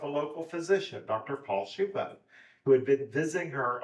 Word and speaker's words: Schoeppe: in their pronunciations so I'm using the Austrian pronunciation that she told me um she said it